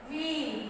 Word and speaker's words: wheel: H is silent. Wheel.